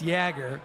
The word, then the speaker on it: Yager: to the broadcast and he was saying Yager. And I got to think that the team play-by-play voice is going to know how to pronounce the guy's name. Right. So I think it's Yager. Yager.